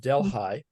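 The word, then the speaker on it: Delhi: got a dle ehhi which the local is pronounced delh high delh high and and and before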